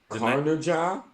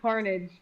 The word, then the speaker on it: Carnage: If you can pronounce that name, I'll give you $1. What name? Carnaja? I don't know the name of the damn game. It's pronounced Carnage.